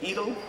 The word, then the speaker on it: Edel: And then Michael went into the business of selling records with Edel. I guess you call it, what do you call, what's the pronunciation? Edel? Edel, like Edelweiss, right?